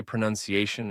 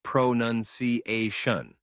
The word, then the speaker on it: pronunciation: This word is especially confusing because its verb form is pronounce with an o sound. But when you say pronunciation, it's pronunciation, not pronunciation.